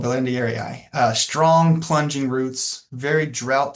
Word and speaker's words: berlandieri: I think that's how you pronounce it as well, Belendieri.